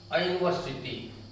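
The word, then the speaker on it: university: कहने के लिए यू वावेल है, वावेल है भी, कहने के लिए नहीं बल्कि है, लेकिन इसका उच्चारण आप देखें वावेल नहीं हो रहा है, इसका उच्चारण कॉन्सोनेंट बन रहा है, इसलिए ये ओपन वावेल नहीं है।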